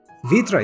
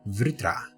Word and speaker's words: Vritra: a little hardship and pronounce vritra vitra is easier but it's actually vritra we are intent